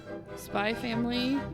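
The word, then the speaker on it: SPY×FAMILY: is 18 plus anime spy family but you don't pronounce the X what Spike family no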